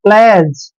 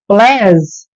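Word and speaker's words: pledge: य पर ध्यान रखना जी से पहले डी आता है तो व डी साइलेंट होता है डी का उच्चारण हमने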